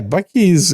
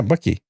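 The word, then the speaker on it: Buc-ee's: around 100 pumps and oh so it's spelled bu u c e e yeah Bucky that does not come across in the audible part I like the little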